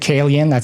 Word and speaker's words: Calian: Yeah, I pronounce it Calian.